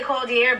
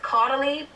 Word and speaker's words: Caudalie: The first thing I got is, I used to say Caudier, but I think it's pronounced Caudalie.